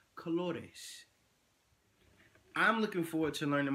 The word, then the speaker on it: colores: Spanish now the word colors in Spanish is pronounced colores I'm looking forward to learning my colors in